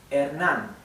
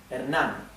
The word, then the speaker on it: Hernán: This has an accent here. Hernán. Okay, so the E, the H is mute, as I said before. The letter E is flat, E. The letter A is flat, A. Hernán. The N is typical N, and the R, I'll talk about the R in a minute, okay? So, Hernán. Keep in mind, try to